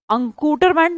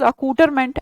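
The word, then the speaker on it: accoutrement: verify के अंदर है अंकूट मेंट नहीं है this is अ कूटर मेंट एन का स्पेलिंग कट कर रही हूं मैं अ कूटर अ कूटर साउंड लाइक स्कूटर कूटर ऐसा लग रहा कि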